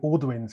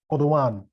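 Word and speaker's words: Audouin: the uh well in britain we call it alduin's goal but the correct pronunciation is odon i will have to remember that all right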